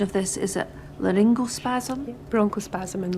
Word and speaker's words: laryngospasm: side effects include bronchospasm, and now, forgive my pronunciation of this, is it laryngospasm? Bronchospasm and laryngospasm.